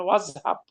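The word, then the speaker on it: وَاذْهَبْ: তখন এই আলিফের আর কোনো স্থান নাই, ঠিক আছে? তখন আলিফের আর উচ্চারণ থাকবে না, আপনি পড়বেন ওয়াজহাব।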